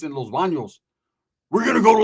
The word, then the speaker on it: Los Baños: Why do the white people always say it like that? Los Banos. We're going to Los Banos? I said, yeah, we're going to Los Banos. Say it like it's fun. Say it with your chest, brother.